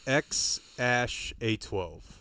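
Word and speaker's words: X Æ A-12: X um and then the AE is like pronounced Ash um Rogen just laughing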